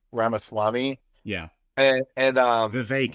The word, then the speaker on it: Vivek: yeah and and uh Vivek it rhymes with cake yeah well no it's